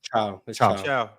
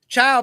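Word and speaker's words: ciao: Like Italian just spelled differently. C A O. How you say it? C A O. How you say it? Chiao. Chiao.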